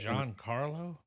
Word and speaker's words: Giancarlo: carlo i had to look up how to pronounce this to his name uh esposito the guy from breaking bad he is john carlo yeah john carlo i just he's always been